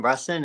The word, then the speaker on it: Russin: Russin, is that how you say his name? Yep. I so.